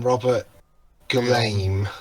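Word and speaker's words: Robert Guillaume: the teacher is voiced by Rafiki yes um Robert glame that's how you pronounce it yes go home yeah back in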